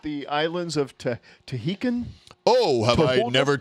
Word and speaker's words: Tahiti: Aren't you from like the islands of Tahitian? Oh, have I Toholda? never told you where I'm from? Toholda? It's pronounced, try it with me, Ta.